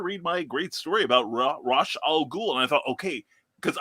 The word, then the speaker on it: Ra's al Ghul: They said Ra's al Ghul the whole time, and it's Denny O'Neil, the creator, came out and said he pronounces it Ra's al Ghul, and that is phonetically how you're supposed to say it.